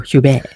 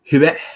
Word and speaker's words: Huppert: So, Isabelle Huppert, if you pronounce it in normal English. But instead, you're going for Huppert. Huppert. You have to have that airy thing. Airy or silent? Doesn't matter. But it's still whisper.